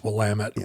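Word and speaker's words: Willamette: not from the Northwest you just think it's Willet and we should make a point for the future oh no it's willamet we're sorry everything we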